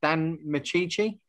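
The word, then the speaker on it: Micciche: And I'm not too sure how to pronounce his name. Is it Dan Michici?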